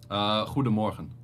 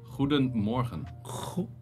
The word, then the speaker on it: goedemorgen: We have the G, we have like, which is like a strong G, which is G. Yeah. Damn, I thought my language is hard. No, well, your language is pretty. That's like choking on a choking on Zach. Oh, exactly, dude. What? No, it's actually like the best explanation is like you put water in your mouth and you go, that kind of stuff. Like, morgen.